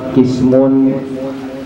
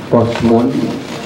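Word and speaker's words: قسم: Awal yang pertama kismun, ya, walaupun tidak ada harokatnya kecuali mim aja yang ada domatainnya, tapi bacanya harus pas, karena kalau dibaca kosmun atau dibaca kosamun ini maknanya jauh sekali, beda sekali.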